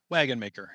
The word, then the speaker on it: Wagonmaker: how do you say your last name Ben wagon maker it is a Dutch name of or Dutch